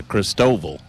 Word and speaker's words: Christoval: an interview with another media member, and it's Christoval is the way I pronounce it.